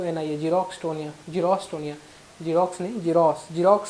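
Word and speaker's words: xerostomia: होता है रोस्टो निया देख लेना आप लोग स्पेलिंग रोस्टो निया बोलते उसको रोस्टो निया एक्स ई आर ओ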